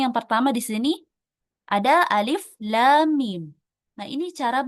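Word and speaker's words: الم: Jadi cara membacanya adalah alif lam mim ya. Bukan alama tapi alif lam mim ya seperti itu bukan alama.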